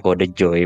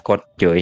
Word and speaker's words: Kode Joy: Sausnya jadi bacanya Kode Joy, bukan Code Joy seperti itu.